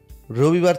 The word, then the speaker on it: রোববার: মরিবার থেকে মোরবার, রবিবার থেকে রোববার, হ্যাঁ।